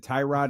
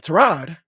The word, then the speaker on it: Tyrod: Didn't he say my name isn't Tyrod? It's Trod. Yeah, Trod, not Tyrod.